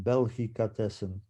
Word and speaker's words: Belgicatessen: Belgicatessen, yeah, I pronounce Belgica it from Belgium, and Belgicatessen. delicatessen. So we combined the two words into one, Belgicatessen.